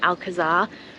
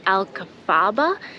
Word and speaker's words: Alcazaba: So the fortress is originally Arabic, so that's where the name Alcazaba comes from, but I'm actually pronouncing it wrong. It seems like it's pronounced Alcazaba, so the Z is pronounced kind of like